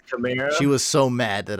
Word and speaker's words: Kamara: Everyone says Kamara. Not everyone, but like over 70% of people say Kamara. It's Alvin what'd you Kamara. say? Is that what it really I is? say every name wrong. Yeah, I mean, I trust her. It's Camaro.